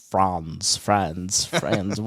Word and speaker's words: Franz: You can say it either way, but I'm from we have Appalachian roots, so it's Franz.